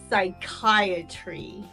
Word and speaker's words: psychiatry: purple peppers and peas sometimes the PE is silent and that happens in words that begin with Psy for example psychic or psychiatry or psychiatric the psychiatrist was psyched to